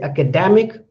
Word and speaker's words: academic: So you can sense that when I say academic, the da is more stressed, and when I say academy, ka is more stressed.